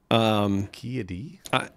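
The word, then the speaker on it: Ki-Adi: Ki Adi?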